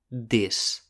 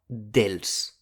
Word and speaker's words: dels: (of the - plural) And as with 'als', the L is not pronounced. You can say either or . But not .